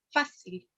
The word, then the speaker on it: fácil: Como por ejemplo podríamos dar la palabra fácil, que su pronunciación más fuerte está en la A, ¿verdad?